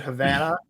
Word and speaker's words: Havana: that's right when you call it havana because that's how it's supposed to be pronounced oh yes i'm trying